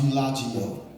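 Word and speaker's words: eulogia: The word eulogy, if you run the etymological research on it, it comes from a word that's pronounced eulogio.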